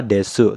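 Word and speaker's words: です: adalah penanda kalimat positif Des juga samades dari kata desu tapi kebanyakan ketika diucapkan bunyi uu di akhir kata itu sering dihilangkan jadinya cuman dibaca tetap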